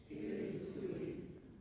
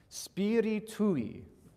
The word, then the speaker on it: Spiritui: Spiritui. Now, one more time, because there's that, you're not maybe anticipating that I on the end to be its own syllable.